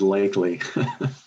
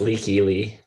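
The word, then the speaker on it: Lykke Li: Jason might have Licky Lee on there as a little shocker. Is that how you pronounce it? I said it's Lakely. It's Leaky Lee.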